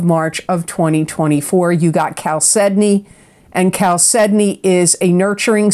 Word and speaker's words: chalcedony: You got chalcedony, and chalcedony is a nurturing stone. It promotes brotherhood and goodwill. It absorbs negative energy. Chalcedony brings mind, body, emotions, and spirit into harmony,